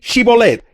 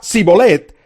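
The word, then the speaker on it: Shibolet: ellos decían muy bien di chivolet si decía sibolette porque no podía pronunciar la palabra correctamente lo agarraban y allí mismo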